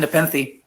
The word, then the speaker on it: Nepenthe: And Matthew is, he is the author of the novel Kind Nepenthe. Did I say it right? No, it's Kind Nepenthe. No, oh, Kind Nepenthe.